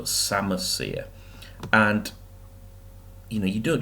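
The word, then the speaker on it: psammosere: which another key word we call a sama seer as a silent P so samasya and you know you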